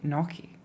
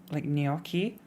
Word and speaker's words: gnocchi: And I say gnocchi because I'm British, and she pronounced it the correct way, which is like that. It's in chat right now, like with a Y, like gnocchi.